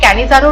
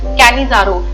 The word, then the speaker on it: Cannizzaro: Last reaction यहाँ पे नजर नहीं आ रही है, ये है कैनिजारो रिएक्शन, ये आप नोट कर लीजिए। मैं आपको इसकी स्पेलिंग बोल देती हूँ, कैनिजारो, CANNIZZARO, कैनिजारो रिएक्शन।